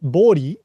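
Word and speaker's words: 暴利: And price gouging in Japanese, you can call it bori, b bouri, but it's pronounced bori.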